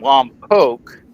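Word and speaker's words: Lompoc: and I need to I'll get this right because I was told I mispronounced it the first time. They think that we're we got uh weekend passes from Lomb Poke.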